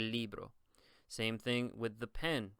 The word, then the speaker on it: libro: Remember, the I here is pronounced like an E sound, so you would say el libro.